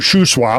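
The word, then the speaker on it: Shuswap: are you call the fiord Lakes like Mount shwap did I say it right Sho swap yeah um bonapart um ham Loops Okanagan yeah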